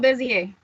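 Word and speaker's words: Béziers: It's Beziers. How do you pronounce that? Oh, Bezier.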